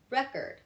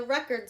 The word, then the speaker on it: record: Okay, record, record. I went to the record store. Not I went to the record store, right? Record store. All right, so it's again right here in the first part, and there's your two syllables.